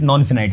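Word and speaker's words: non-finite: नॉन फिनाइट, जिसको फाइनाइट भी कुछ लोग प्रोनाउंस करते हैं, बट I pronounce it नॉन फिनाइट।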